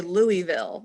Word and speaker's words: Louisville: first grade um and we actually moved to louisville kentucky or some people say louisville when i lived there i swear to god everyone called it louisville yeah am i saying it wrong i am